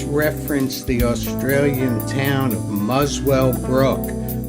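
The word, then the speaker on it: Muswellbrook: the Australian town of muswell Brook which incidently is pronounced without the W by Australians and Donald Fagan had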